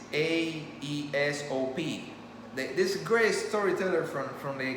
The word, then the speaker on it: Aesop: It's Aesop.